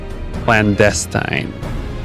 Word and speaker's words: clandestine: yeah clandestine all right so it's the emphasis on the second one not the first one okay did you want to practice it no I got it I got it now I'm curious clandestine bam moving on plus